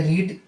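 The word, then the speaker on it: read: रीड pronunciation change होगा। Spelling आपका वही रहेगा। प्रोनाउंसिएशन चेंज हो जाएगा। Verb one रीड, verb to रेड, verb three रेड।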